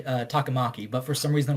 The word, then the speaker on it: Takamaki: It's more like there's just more emphasis. Okay. So like most people with brain would say Takamaki, but for some reason they're like Takamaki for some reason.